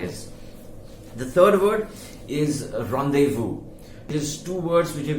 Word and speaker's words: rendezvous: call this you know literally and say it as rendezvous it is not rendezvous it is said the way in english as well the way it is said in french and it is rendezvous now uh two parts